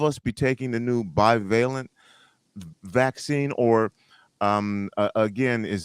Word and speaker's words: bivalent: now I'm going to keep using this word bivalent is that right am I saying it correctly